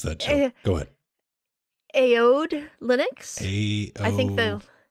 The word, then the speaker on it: Aoede: I want to call it Aoede, like Odie. Yeah, Odie. Maybe that... Odie, you know Garfield's what? Odie. Too late. The A is silent. It's Odie.